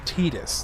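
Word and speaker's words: Tidus: Titus as in Tide in this game's water theme at Thank you. Thank you, Orphan. You are absolutely correct. It is so stupid that his official pronunciation is Tetus.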